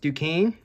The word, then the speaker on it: Duquesne: Then we got BYU against Duquesne. That's how you pronounce them.